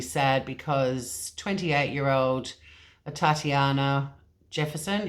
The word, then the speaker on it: Atatiana: because 28 year old Tatyana Jefferson it's spelt like Tatiana with an A at the front I listened to a couple of media conferences and they seem to be saying a Tatiana she was pronounced dead